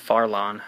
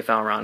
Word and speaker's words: Farlon: see how it goes I keep saying his name wrong it's actually in this one it's farlon I I still want to say Faron because it just it looks better rolls off the tongue better but anyway so let's